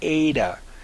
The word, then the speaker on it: eta: We have also here in the next letter is a eta. It's pronounced eta, and it has an A sound as in late.